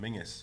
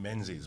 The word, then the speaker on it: Menzies: Because by this time I've been getting all this grief from my family because technically my full name is Iain Mingus Banks, or Iain Menzies Banks, however you choose to pronounce it.